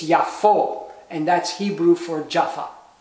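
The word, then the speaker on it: יפו: the holum VAV which is O so it's yafo and that's Hebrew for Jaffa so now uh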